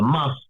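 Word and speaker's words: mast: Now, the must is written M-A-S-T, but it's pronounced like must.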